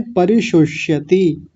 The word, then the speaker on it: परिशुष्यति: पहला ये क्या है, इसको बोलिए। श। हाँ, तालव्य शकार। दूसरा मूर्धन्य शकार हलंत आधा है, तो बोलिए परिशुष्यति।